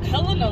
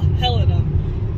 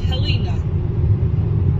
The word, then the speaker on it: Helena: you want to call Helena. I know it is not pronounced Helena, like some people who are not from here think.